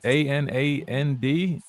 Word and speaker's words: Anand: I'll be honest with you, this name that they typed me is a little off, so I apologize if I mispronounce it. Is it Anand, A-N-A-N-D?